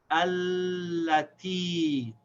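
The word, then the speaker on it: التي: So we say alla, and then this ta has kasra and ya, so it's ti. Allati.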